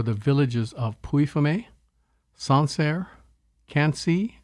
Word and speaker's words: Quincy: Villages of puifume sansare can't see spelled like Quincy melito salon and Roy